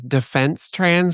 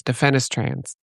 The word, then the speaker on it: defenestrans: lot of people pronounce it as defense trans because they assume it's like, oh, I'm defending trans, but no, the E and the S are flipped, so it's defenestrans.